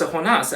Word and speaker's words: Jonah: using the English translation my name is Jonah in English but in Mexico they pronounce a honas I'm not taking offense to that that's just how they pronounce my name in their dialect these last two questions